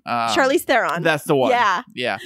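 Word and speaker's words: Theron: her name uh Charlie Thon that's the one yeah is it Thon or Thon how do you pronounce her last name theren Charlie okay uhuh all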